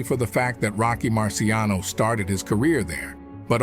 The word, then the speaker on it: Marciano: However, it should be noted that in the States, in the English-speaking environment, the surname is pronounced in their own way, Marciano.